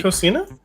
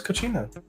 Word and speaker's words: Cocina: it Cocina? Yeah. I thought it was Cochina. No, that's just my mispronunciation.